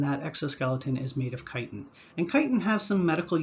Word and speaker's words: chitin: is something known as chitin incidentally if you see ch at the beginning of a word and the word is derived from greek it's pronounced as a hard k just something you might